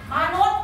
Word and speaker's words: มนุษย์: เป็น ตัว อะไร สะกด อ่าน ออก เสียง ตัว อะไร สะกด ด เด็ก ด เด็ก เพราะ ว่า ส เสือ